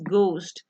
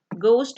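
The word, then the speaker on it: ghost: Next is गोस्ट। गोस्ट में H silent है, एच ना भी हो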